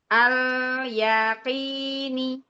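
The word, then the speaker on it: الْيَقِينِ: lagi alya jangan iya alyaqi yaqi alyaqini namam lam sukunnya mengalir jangan sampai terputus alyaqini ihsan masyaallah barakallahu fik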